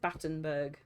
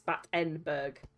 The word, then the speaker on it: Battenberg: was wrong with you so it's spelled b a Double T N but you pronounce it Battenburg I mean technically I am I am being very lazy with my pronunciation so yeah I am I am literally kind of saying bat inber but it's battenberg yeah I'm being very